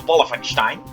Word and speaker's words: Wolfenstein: not Wolfenstein but B ofenstein remember this is a German Castle not an English Castle now I'm not quite